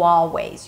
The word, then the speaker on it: always: You always, and no, you don't have to pronounce the L in always. You always, you always know.